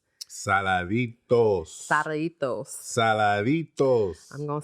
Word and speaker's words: Saladitos: Now Mike gonna make me feel all self-conscious because I say sarritos. Saladitos.